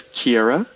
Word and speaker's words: Ciere: the name of your company how do you pronounce it again yeah it's Kiera here and yeah it's a Latin word it